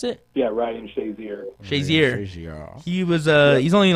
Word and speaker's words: Shazier: Is that how you pronounce it? Yeah, Ryan Shazier.